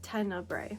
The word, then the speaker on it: Tenebre: I finished Tenebre, which is the correct way to pronounce it. Tenebre.